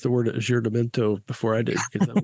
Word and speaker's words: aggiornamento: And then the next one was the how do you pronounce that? Aggiornamento.